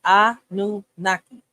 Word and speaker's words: Anunnaki: He broke it down for me to spell it out. All right, the Anunnaki God. That's how you say Anunnaki.